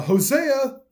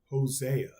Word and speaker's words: Hosea: we have four uh Hosea I always say that like Hosea I need to yeah I say it like with a Spanish accent almost like Jose Hosea lians Jacob as